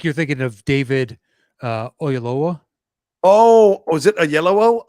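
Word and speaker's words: Oyelowo: name great actor she doesn't know how to pronounce it because he played um yes no you're right it's a yellow because he plays Martin Luther King yes absolutely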